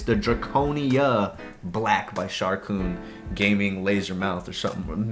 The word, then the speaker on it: Sharkoon: And I know I'm pronouncing that right now because I looked it up. At least the person that I said it said Sharkoon.